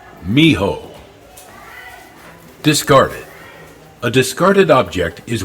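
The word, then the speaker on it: mijo: a pyramid on Wheels Miho is pronounced Miho discarded a discarded object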